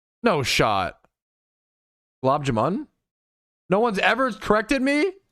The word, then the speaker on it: gulab jamun: It's moon, Gulab Jamun.